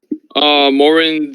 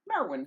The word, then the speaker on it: Marwyn: Morin the Nurture, and it's a female. Morin. Can you spell that for me? Yes, sir. MARWYN. Marwin.